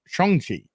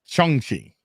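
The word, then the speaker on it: Shang-Chi: i saw the video today how to pronounce pronounce it it's like chongchi yep chongchi that's how you pronounce okay um but no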